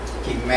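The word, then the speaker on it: גימל: 이거는 기멜이라고 합니다. 기멜. 예, 그렇죠. 이 헤브라이어 발음입니다.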